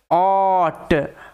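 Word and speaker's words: ought: আগে একটু আগেই বললাম টি এর আগে জি এইচ সাইলেন্ট থাকে ওই কারণে জি এইচ এর উচ্চারণটা হয় না টি এর উচ্চারণ হয়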